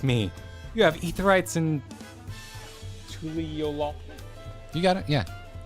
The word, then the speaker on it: Tuliyollal: You have Aetherites in Tuliyollal. You got it? Yeah. I put the emphasis on the final syllable. I go with Tuliyollal.